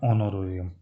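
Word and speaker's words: honorarium: ऑनोरोरियम का मतलब देखिए अभी मैं बताता हूँ आपको, जो यहाँ पे एच है बेटा ये साइलेंट है, जब आप इसका प्रोनाउंसिएशन करोगे तो एच साइलेंट हो जाएगा, तो ये क्या हो जाएगा, ऑनोरोरियम।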